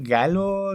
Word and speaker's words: Galo: no está acá raro galo lo escribe lo pronuncian garo times bueno los japonés se produce la l por el bueno y él es